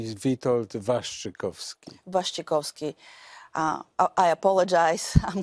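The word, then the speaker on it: Waszczykowski: welcome let me correct my name my name is vitold vastrykovsky kowski uh i apologize i'm coming from i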